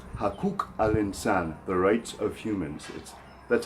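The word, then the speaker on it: حقوق الإنسان: To say human rights in Arabic, rights is a little bit tricky to pronounce because we have to use that qaf letter. So it's hakuk al-insan, hakuk al-insan, the rights of humans.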